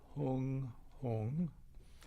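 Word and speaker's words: hūṃ: We recite the syllable hung in English letters if you visualize it as h o o n g be approximately the right way to say it.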